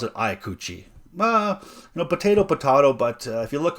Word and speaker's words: Ikuchi: Now, I think it is pronounced Ikuchi, and I pronounce it Ikuchi. Potato, but if you look on the Spyderco website, it is pronounced Ikuchi.